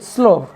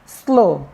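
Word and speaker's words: slough: सना हुआ आटा एस एल ओ य जीी स्लो क्या कहेंगे स्लो जिसका मतलब कचली होता है कचली आप जानते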